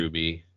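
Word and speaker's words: RWBY: better DCR WBY Y is that like pronounced like Ruby Ruby is it pronounced Ruby yep that's dumb Detective Comics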